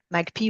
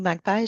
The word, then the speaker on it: Magpie: personnalité juridique de la rivière Magpie ou Magpie, je pense que les deux prononciations sont une option, et également celle des aires protégées.